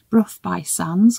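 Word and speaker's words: Burgh by Sands: It was them who told me the correct pronunciation of the name of the village, Brough by Sands, because it doesn't look like that.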